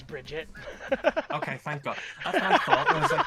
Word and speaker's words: Bridget: The only thing I know about the Guilty Gear series is that is that Baguette is trans and that's all that matters. Is it pronounced Baguette? It's not. Her name is Bridget.